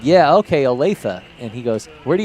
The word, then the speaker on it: Olathe: phone, and I said, okay, how do you pronounce it? Is it Olathe? And he goes, Olathe? And I said, yeah, okay, Olathe.